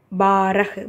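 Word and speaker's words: बारह: அடுத்து பாரஹ், பாவோட ஆசம்பல் இருக்குது, ரஹ் பாரஹ் அப்படின்னா 12. அடுத்து தேரஹ், தாவோட ஏ சிம்பல் இருக்குது, ரஹ் தேரஹ் அப்படின்னா 13.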